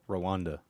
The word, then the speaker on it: Rwanda: Yes, Rwanda.